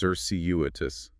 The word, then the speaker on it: circuitous: Circuitous. C R C U T O U S. Cerseius. Four syllables. Stress on the second.